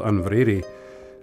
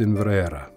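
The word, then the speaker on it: Inveraray: Although in modern pronunciation the place is often called Inverary, the correct pronunciation in the Gaelic is Inverara.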